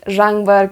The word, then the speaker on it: Жаңбыр: This one, zhangbar, can be a little bit tricky. Zhangbar. So I think you can split that into two syllables.